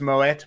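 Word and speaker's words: Moët: ] anyway it is i think you'll find it's pronounced moet but anyway as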